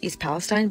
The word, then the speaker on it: East Palestine: on in Ohio yes I pronounced the Town East Palestine because that is how my husband pronounces it and he had lived